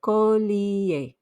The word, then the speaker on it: collier: sound and almost remember the e r at the end makes an a sound you still need to pronounce that i for e sound so you get collier remember we don't pronounce